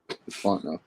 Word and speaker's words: Fontenot: The T's silent. Fontenot, yeah.